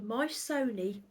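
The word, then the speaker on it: Myssoni: It's called the Mysoni Bias, and I'm going to spell it for you.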